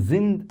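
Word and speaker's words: sind: Told you if after s comes a vowel mostly it is pronounced as zed. So this is zind not zind.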